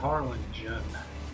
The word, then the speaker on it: Harlingen: just have to say, we always called it Harlingen with a soft G.